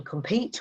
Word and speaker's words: compete: compete and competition so in compete we hear a long e sound in competition we almost have that schwa so but the meaning